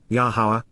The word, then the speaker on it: Yahowah: and regarding moving toward, Yahowah, Yahowah, the proper pronunciation of Yahowah.